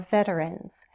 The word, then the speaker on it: veteran: 3 syllables, stress on the first.